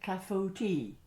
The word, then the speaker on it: clafoutis: fascinating things besides um and the pronunciation oh you can say it any way you like but yeah it's usually like kafuti and and apparently uh